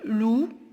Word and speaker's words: loup: Loup, le P.